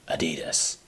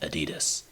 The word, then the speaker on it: Adidas: and ADI dsler started Adidas and in America we're the only we're the only country that calls it Adidas everybody else calls it Adidas as in adid doler what's extra funny is